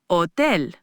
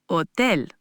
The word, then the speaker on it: hotel: Finally, a very important one, the silent H. In Spanish, the letter H is always silent. You just don't pronounce it at all. This is a common point of confusion. Try hola, hola, and hotel, hotel.